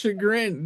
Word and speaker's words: chagrin: Oh, well, thank you for Thank you for Shagrin. It's shagrin.